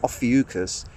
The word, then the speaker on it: Ophiuchus: But someone there took it upon themselves to presume that because a certain constellation called Ophiuchus, that's how you pronounce it, Ophiuchus, wasn't included in the zodiac, that somehow these